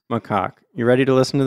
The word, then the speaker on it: macaque: How to pronounce macaque. You ready to listen to this? Okay. Here. How do you go about pronouncing this one? Macaque. You do want to stress on the second syllable.